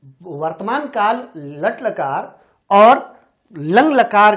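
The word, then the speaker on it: लङ्: कई बच्चे इसका उच्चारण थोड़ा गलत करते हैं। ये ड नहीं है, ये क्या है? लंग। इसको पढ़ेंगे लंग लकार।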